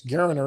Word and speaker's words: Geriner: You got Brad Jackson, Holden Geriner is how you say that. It's Geriner if you kind of know that.